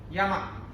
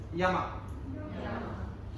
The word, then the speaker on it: Yama: go through for you, easy for you to pronounce that. First one should be easy, right? Yama. The top one is the first one and it's going clockwise. Yama.